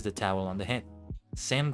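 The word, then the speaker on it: 千: Sen rhymes with 10.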